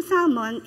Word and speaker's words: salmon: Salmon don't don't um the L don't pronounce it Salmon no Ah ganon yun eh Anyway yung yyung Salmon is also a par